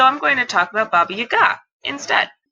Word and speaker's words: Baba Yaga: going to talk about Baba Yaga instead. And yes, that's the Russian pronunciation as far as I can personally produce it with my measly 3 semesters of Russian.